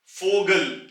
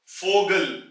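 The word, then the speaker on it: Vogel: फाथ अगला लज है फोगल फोगल यानी के बर्ड परिंदा यहां भी फ की आवाज निकलेगी और उसके बाद ओ की आवाज निकलेगी फोगल और तीसरा लज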